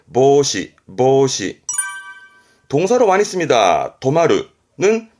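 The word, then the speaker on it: 防止: 발음은 보시, 보시.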